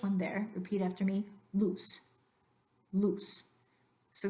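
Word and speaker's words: luz: there repeat after me loose loose so the idea is in Spanish you're not gonna elongate that vowel loose versus loose that's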